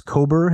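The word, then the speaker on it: Kober: the way you told the story of Alice cober am I pronouncing her name correctly yes yes the story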